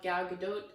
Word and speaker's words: Gal Gadot: has been a lot of talk about the actress herself, Gal Gadot. I did look up her name, and that is the correct pronunciation, I'm pretty sure.